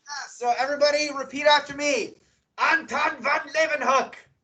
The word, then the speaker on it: Anton van Leeuwenhoek: I do, but I can't, I don't know how to pronounce it. Do your best. Leeuwenhoek or whatever. Yes. So everybody repeat after me. Anton van Leeuwenhoek. Anton van Leeuwenhoek.